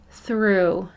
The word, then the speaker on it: through: frequency word is through the word through does not play fair that o-u-g-h chunk is a tricky one say this word with me through read aloud it's time